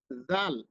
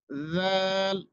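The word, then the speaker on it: ذ: দাল দাল এরপরে আসুন জাল এই অক্ষরটা এই অক্ষরটা নরম ভাবে উচ্চারণ করতে হবে জাল জাল সহজভাবে বলি আমরা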